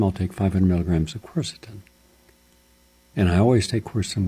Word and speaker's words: quercetin: Quercetin, Q-U-E-R-C-E-T-I-N, quercetin, three syllables, easy.